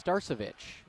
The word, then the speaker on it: Starcevic: Shout out to the Kindred fans who gave me the pronunciations before the game. It's Starcevic, and here he comes in the open court.